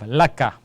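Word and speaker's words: لَكَ: So Lam fatha gives me the sound of La, and Kaf fatha gives me the sound of Ka. So we have Laka, and Laka means for you.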